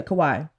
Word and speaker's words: Kauai: The specific place they were in were, I don't want to pronounce it wrong, Kauai? Yeah, Kauai.